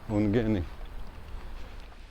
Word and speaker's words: Ungheni: And the good thing is I guessed how to pronounce the name. She said it the same way as me, Ungheni.